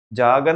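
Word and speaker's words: jargon: में ऐसा बोलू तो जागन अपने आप में वर्ड का क्या है सिनोनिम है और जर्गन अपने आप में क्या है टेक्निकल है है ना बहुत सारे लोग इसे जगन भी बोलते हैं स्पेलिंग होती है जे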